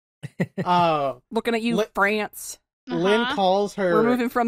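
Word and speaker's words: Lynne: the name that likes it is pronounced Lynn there's like an extra e in there yeah it's like a silent it's the white e it's it's just there you know hey I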